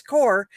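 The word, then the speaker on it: Qor: It's core. It's not straightforward for sure. It is not at all. It's But it is core watercolor.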